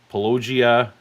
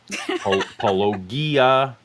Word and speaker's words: Paulogia: Uh, my so for those of you who didn't understand the pronunciation, uh, I go by several different names: Pelagia, Palogia, uh, Paulo Ga, all those How's things.